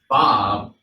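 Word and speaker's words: vav: that is the letter which we pronounce today as Bob, but in the ancient Hebrew, that is the Paleo Hebrew, it was pronounced with a wah, with the wah sound. So you'll see it spelled with a W, W-A-W. But today in modern Hebrew, we use it, we call it a Bob.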